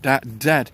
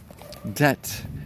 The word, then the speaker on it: debt: he should say doubt, debt when he should pronounce debt, D-E-B-T and not D-E-T.